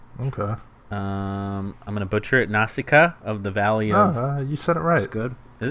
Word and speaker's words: Nausicaa: the standalone blue Wonka I'm gonna butcher at Nausicaa of the valley of you said it right